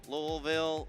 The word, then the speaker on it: Louisville: to have everyone here you might hear us say louville Louisville lville a lot of different pronunciations here I think we're going with Louisville here but you can